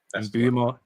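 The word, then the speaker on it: Mbeumo: I think I've been pronouncing it wrong for years. And Bumo. Bumo.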